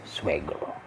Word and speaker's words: suegro: The N, there's a wave on top of it, so you pronounce it as cuñada. And for father-in-law, we have suegro.